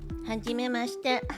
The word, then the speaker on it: はじめまして: When pronouncing, はじめまして。 make sure the I in mashite is silent to sound similar to mashite.